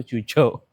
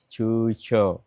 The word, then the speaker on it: Quzhou: diselenggarakan di kota Cuchou tulisannya Cuou Tapi ternyata sampai sini baru tahu bacanya itu cuco. Cu gitu, cuco.